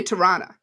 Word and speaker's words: Toronto: ontario yeah and and can i teach you how to say toronto correctly if you're from toronto how you say it okay so you sound canadian toronto toronto toronto yeah i'll see you tarana i liked it yeah you did it right yeah born in toronto